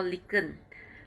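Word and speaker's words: lichen: may even miss this we call lincoln lincoln which if you want to look more look into internet is spelled as l-i-c-h-e-n lincoln is a is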